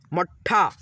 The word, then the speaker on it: मट्ठा: ठीक है, तख्त, मट्ठा, देखिए ये ट में जो हलंत लगा है ना, तो आधा ट हो गया है, इसमें हम लोग अ का ध्वनि नहीं मिलाएंगे, और दोस्तों ठ में मिलाते हुए यानी कि इस ट को पढ़ेंगे मट्ठा।